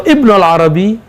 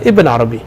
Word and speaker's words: Ibn Arabi: ya IBN Arabi atau Ibnul Arabi H hadani kull minhuma Jaiz jadi kita boleh mengatakan Ibnul Arabi boleh mengatakan IBN Arabi kenapa dalam bahasa maghrib